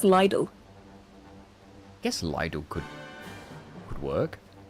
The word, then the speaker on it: Lidl: But how do you say little? Do you say lidle? Little or lidle? I don't say lidle. That's for sure. Apparently it is lidle. I just say little.